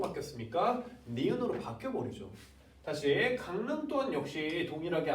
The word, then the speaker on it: 강릉: 다시 강릉 또한 역시 동일하게 앞말에 이응이 뒷말에 리을에 영향을 줘서 니은으로 바뀌어버립니다.